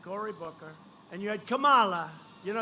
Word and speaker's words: Kamala: booker and you had kamala you know if you pronounce her name wrong she goes crazy come on like a comma it's like a comma she's like a comma and by the way